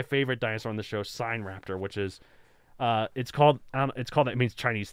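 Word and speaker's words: Sinraptor: Actually, no, it's not, because we've done my favorite dinosaur on the show, Sign Raptor, which is, it means Chinese thief. It's spelled Sin Raptor.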